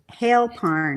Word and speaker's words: Hailparn: say your last name it's hail Parn like rain snow sleet and hail and all of the